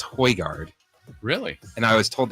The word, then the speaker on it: Højgaard: I've been told it's pronounced Højgaard.